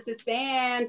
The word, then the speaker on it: tisane: It is called a tisane, French word for herbal infusion.